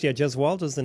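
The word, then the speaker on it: Gesualdo: Uh the Gasaldo 6 in concert. Did I pronounce that correct? The Jewaldo 6. Yeah. Jezwaldo is the name of a an Italian Renaissance era composer.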